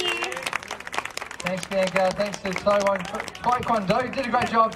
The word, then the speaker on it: Taekwondo: We're gonna yell the three syllables, Taekwondo, as we move forward with three front kicks.